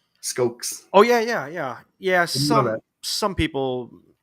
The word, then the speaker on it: Skoks: Also, I just learned today it's Skoks, not Skoks. Skoks.